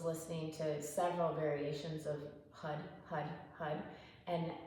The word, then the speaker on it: har: way here today, and it's spelled H-A-R, but it's pronounced hud because you want the tongue to hit the top of your roof, and what that does